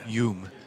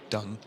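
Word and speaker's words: Dũng: Chiang Tran that is I think it's Yung instead of Dung. Ah yung sorry I like Y O M sort of pronunciation. Okay. Yeah. From what I saw online, uh, if he's South Vietnam, it's more a y and then north is more of a zoom.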